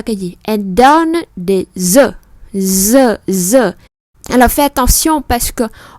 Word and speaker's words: œuf: buồn cười vì nó số ít là nó đọc là œuf và số nhiều thì nó đọc là rất là ngoại lệ, chúng ta cẩn thận.